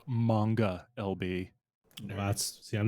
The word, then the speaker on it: manga: novels coloring fine it it's pronounced manga lb that's see I'm not a weeb so